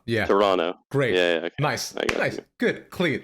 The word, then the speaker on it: Toronto: Firstly, it's Toronto. You don't pronounce the second T. Let's just fix that right now cuz I know you're going to break it up. Toronto. Yeah, Toronto.